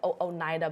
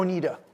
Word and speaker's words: Oneida: United States at the Oneida Baptist Institute. Did I pronounce correctly? It's actually Oneida.